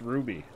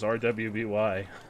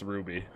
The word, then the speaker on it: RWBY: It makes sense, though, that it would just be pronounced Ruby.